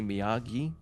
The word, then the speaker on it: Miyagi: Places the belt in it as he's like, "It's actually Miyagi."